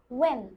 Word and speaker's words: when: ও আচ্ছা, তাহলে এটা কি হবে? when. when? ইয়েস। ও আচ্ছা, তাহলে আমরা ছোটবেলা থেকে এই হোয়াট হোয়েন যে উচ্চারণ করেছি এটা ভুল।